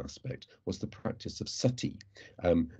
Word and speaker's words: sati: was the practice of sati um normally written nowadays s-a-t-i although in victorian writings you often see it spelt in the way i've put in brackets and certainly that's closer to how it's pronounced and this is the